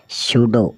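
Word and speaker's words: pseudo: है जवर पी एस ई यू डी ओ सूडो सूडो का अर्थ होता है जाली या झूठा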